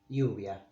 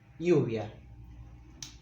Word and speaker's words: lluvia: In Spain, in Spain and in most Latin American countries, they say it lluvia with this soft v, lluvia.